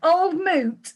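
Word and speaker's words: Old Mout: It says Old Moot rhymes with fruit.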